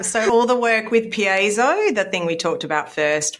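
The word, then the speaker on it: Piezo: So it's pronounced PZO.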